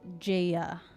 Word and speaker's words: Jaya: So, for the people who don't know and the people who just came in, to pronounce my name, it is Jaya. Yes? Like Jaya Yagi.